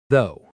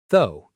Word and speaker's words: though: bonus word one though. A lot of learners try to say every letter but it's actually very short though. Almost like the word go, but with a th sound.